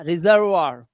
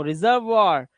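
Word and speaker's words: reservoir: गया, रिपर्टवार, और इसका रिजर्वार, देखो रिजर्वार, यहां पर इनके उच्चारण वाह हो गए हैं, क्यों, क्योंकि ओ आई के बाद आर आया हुआ है, तो वहां पे वाह लगाना पड़ेगा आपको।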